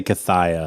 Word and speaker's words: Cathaya: Cathia is spelled Cathaya. I would say Cathaya.